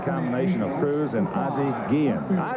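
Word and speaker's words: Guillén: of cruz and ozzy guillen izzy pronounces his name gigen i don't know if that's his accent or what i said ozzy you don't mind if we just go ahead and say gee he said no go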